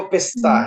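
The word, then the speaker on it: پسته: मिदाद के बाद आप नेक्स्ट वर्ड देखें, पिस्ते। पिस्ता। पिस्ते, पस्ता नहीं है, पोस्ता नहीं है, पिस्ते। इट्स अ पर्शियन वर्ड पिस्ता, जो कि उनके अकॉर्डिंग पिस्ते है, हमारे हिसाब से पिस्ता है।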